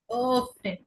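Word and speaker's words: öffnen: ওফনে, ওফনে, ওফনে। ঠোঁটটাকে একদম গোল করে একটু ভিতরের দিকে টান দিয়ে প্রেসার দিয়ে একটু বলতে হবে ওফনে, ওফনে।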